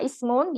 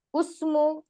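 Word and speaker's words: اسمُ: ada lagi Hamzah wasal Hamzah wasal ketika terletak di awal kata awal kalimat maka dia di baca kata Ismun ya di sini dibacanya kasrah Bukan usmu tapi Ismu ada yang mau ditanyakan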